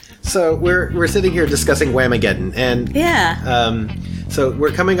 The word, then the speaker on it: Whamageddon: So we're sitting here discussing Whamageddon, and Yeah.